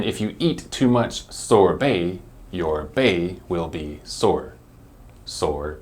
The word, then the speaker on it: sorbet: give it a try are you ready it's sorbet sorbet sorbet this one is also a kind